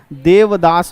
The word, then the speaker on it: देवदास: कई लोग देवादास कहते हैं। सब सही है। हम गांव देव देव गाना है देवदास। का थे? देवा देवा। अब बाकी नाम का हो गए देवादास। तो प्रोनाउंसिएशन का खेल है।